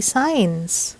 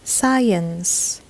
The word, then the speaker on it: science: creation of this video These Days people would say signs when they read this word which is totally incorrect the proper English pronunciation of this word is science science not science it's science as in science and technology so that wraps up